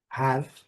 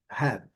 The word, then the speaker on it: have: Letra E não pronunciada, a letra A com seu som curto, have. E temos ainda uma pronúncia alternativa para o meio das falas, onde ela é bem mais curta ainda. Aqui é have, have, have, e aqui é have, mais curta ainda.